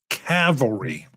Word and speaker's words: cavalry: I was originally even looking at coming up with something for cavalry.